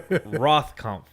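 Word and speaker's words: Rothkopf: clear that's not our review hold on joshua rothconf the thing that's how you say it uh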